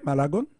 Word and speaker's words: Malagon: Docteur Malagon, est-ce que je prononce bien Malagon? Oui.